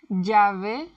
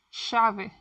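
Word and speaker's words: llave: In some parts in Argentina or Eurowite, it sound like a sh. For example, instead of jave is shave, juvia shuvia po. But if you stick to the sound, you will be understood everywhere.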